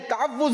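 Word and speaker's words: تَعَوُّذ: सही प्रोनाउंसिएशन है तअव्वुज़।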